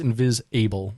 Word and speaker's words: Invisable: forest yes and it's it's pronounced invis able like uh abl e instead of ible yes um released on